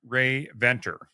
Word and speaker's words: Rae-Venter: But our special guest is Barbara Rae-Venter. And did I pronounce that right, Barbara?